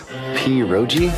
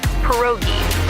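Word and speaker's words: pierogi: Poi. Did I pronounce that right? It's pronounced perogi. A tasty dish like dumplings.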